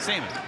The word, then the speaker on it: salmon: Travis texted me, is it with the L or not the L? Because when you're just eating it, you just say, how you say it? Salmon.